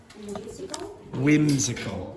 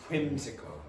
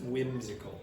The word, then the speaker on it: whimsical: Whimsical. Whimsical. But most dialects, I would say, don't pronounce the H at all. It's just whimsical.